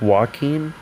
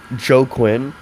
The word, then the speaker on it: Joaquin: an awesome performance by joaquin phoenix it's it's pronounced joaquin i always said like joe quinn or something weird like that at first but